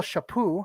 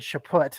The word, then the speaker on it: Chaput: So Michael Shapoo, I said Chaput earlier, but the T is silent, so forgive me for that.